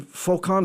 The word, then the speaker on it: Foucan: Because for those who don't know, it's Sebastian Foucan.